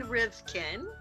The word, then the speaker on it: Rivkin: entertainment industry experts Our Guest today is rivkin did I pronounce that right you did hello y okay